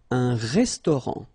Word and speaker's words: restaurant: Final T not pronounced. Un restaurant.